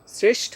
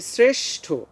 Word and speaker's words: শ্রেষ্ঠ: তো এখানে আমরা শ্রেষ্ঠ দিয়ে উচ্চারণ করব, প্রথমে উচ্চারণ করব দন্তস্য, এরপরে উচ্চারণ করব তালব্যস্য।